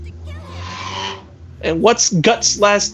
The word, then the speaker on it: Guts: If it's a foreign name, katakana is just doing what it can. It's not supposed to be directly pronounced Gatsu.